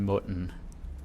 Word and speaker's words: mund: The D is silent. If you're a beginner, if you're still kind of unsure about Danish pronunciation, assume it's a silent D.